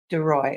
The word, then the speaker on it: Daroy: Daroy.